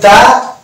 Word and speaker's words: the: কারণ দি উচ্চারণ করবো না because this word starts with consonant. Pen, P is a consonant. So before this word we used the. We can pronounce the. তাহলে the pen, কারণ কলমটা এই যে টা চলে এসেছে।